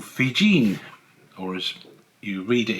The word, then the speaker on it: Viljoen: We have Otto printings here, and these ones by another printer called Fijin, or as you read it in the description of the catalogue, you could easily mistakenly call it Viljoen, but it's Fijin, that's the correct pronunciation.